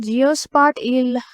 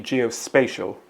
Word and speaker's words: geospatial: here's the answer understanding GEOS spart e relationships is crucial for urban planning and development projects yes she pronounced is it geospatial it is actually geospatial like uh spatial meaning related to space geospatial data is data